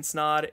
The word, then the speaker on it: Snod: My name is Ryan Snod. It rhymes with odd, and we'll see you in next week's video.